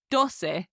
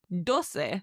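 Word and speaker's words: doce: Now number 12 is dose. D O C E dose. It's like dos with a little se on the end.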